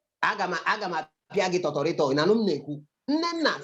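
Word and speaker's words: Agha: Aga. Nena. Is it A-G-A-H? That's how you spell it.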